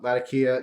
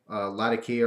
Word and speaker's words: Latakia: I always say Latakia or Latakia. I heard a factory tour at Orlik, and the guy who was giving the tour said Latakia. That's how he pronounced it. But I'm stubborn, and I've been saying Latakia or Latakia. So, but I believe the real pronunciation might be Latakia from where it's grown and all that stuff.